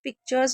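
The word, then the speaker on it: pictures: ऑफ द पिक्चर्स क्योंकि मैंने बताया टी यू आर को चर पढ़ते हैं तो पिक्चर्स हो जाएगा।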